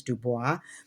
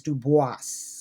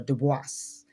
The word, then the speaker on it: Du Bois: close we b and we usually say dubis which is the French way but my understanding is that dubois did not actually say his name as dubois. He actually said it as dubis or dubis.